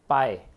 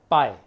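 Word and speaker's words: 百: याद कर सकते हैं, पाए, PAAY, पाए। आप कैसे भी स्पेलिंग बनाए, सुनने में ऐसा आना चाहिए, पाए।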